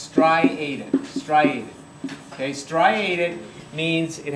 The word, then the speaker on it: striated: It's pronounced striated.